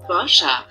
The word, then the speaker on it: Boscher: Boscher. Boscher. Ok, intéressant. Écoutons-le en néerlandais. Boscher. Donc c'est Boscher, mais c'est prononcé un petit peu différemment.